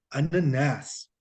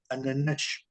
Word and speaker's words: ananás: En cambio, la palabra piña se lee en portugués ananás, ananás. No se alarga, se acentúa. Por eso ese cantadito que tienen los brasileños sobre todo. Ananás. Porque en Portugal dirían ananash, ananash.